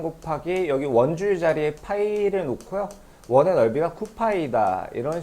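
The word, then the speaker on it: π: 자, 이렇게 쓰고 파이라고 읽어요. 파이.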